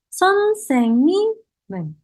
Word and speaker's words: 선생님은: Tapi cara bacanya bukan seperti itu, tidak perlu ada jeda, langsung teman-teman pinjamkan ke sebelah kanan. Jadi 선생님은.